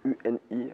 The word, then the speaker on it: Uni: Donc, ça s'écrit UNI en initiale. Ça fait écho un peu à mon ancien album qui s'appelait Initial justement. Donc là c'est Uni. Et en anglais ça se prononce You and I, toi et moi aussi, c'est des initiales.